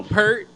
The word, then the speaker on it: Peart: Also, Neil Peart. Did you guys happen? Or it's Peart, right? Is it Peart. It's Peart.